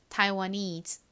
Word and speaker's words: Taiwanese: Taiwanese. 한 번 더 해볼게요. Taiwanese. 좋습니다. 한번 같이 적어볼까요? 먼저 Thai는 T-A-I. 다음 와 소리는 W-A. needs는 N에다가 is 소리 나는 ESE를 더해주시면 되죠.